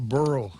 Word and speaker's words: burro: You got to take a bureau to class. Yeah. Is that how you say it? A donkey? A donkey. A burro.